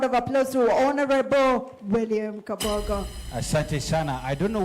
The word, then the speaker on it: Kabogo: Let's give a round of applause to Honorable William Kabogo. Asante sana. I don't know whether you know how we pronounce it in my village. It's Kafogo. Oh, Kafogo.